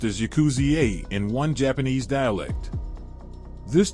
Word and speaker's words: yakuza: consisted of three cards eight nine and three pronounced as yakuzi in one Japanese dialect this term would later